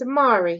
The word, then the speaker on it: Amari: recording right i nodded my name's amari he wrapped rhymes with atari i'm old school like